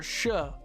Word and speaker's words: shire: I'm used to hearing it pronounced a little differently, but it's because where I live, shire is pronounced more like shush or shuh.